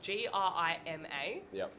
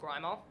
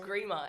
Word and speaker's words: Grima: is grima it's spelled g-r-i-m-a and a lot of aussies will pronounce it grimer um you got to